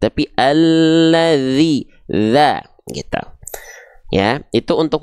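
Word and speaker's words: الذي: Maka kita baca bukan alladza, bukan alladzu, tapi alladzi gitu.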